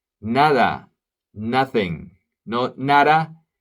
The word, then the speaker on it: nada: silent nada nothing no NADA the D is a real D NADA NADA and then there